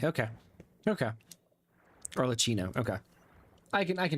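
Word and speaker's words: Arlecchino: AR leino like Cheetos her name is Italian anytime there's a double C in Italian Chi like Gucci fucini okay okay okay orcino okay I can I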